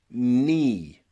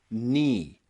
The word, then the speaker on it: knee: all of these words the letter K comes before the letter n and that means the letter K is silent so practice with me night night knife knife and knee knee Knight knife and knee